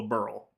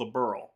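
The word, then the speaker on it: Liberl: For the Nissa games, they call it Liberal because it's written like Liberal. It sounds like Liberal. It's called Leberal. And when it's referenced a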